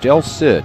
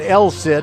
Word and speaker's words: Del Cid: Oh, Del Cid. Okay, let's see here. I said El Cid.